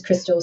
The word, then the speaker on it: Kristel: south east london uh the accent then sort of covers over becomes crystal so i'll answer to anything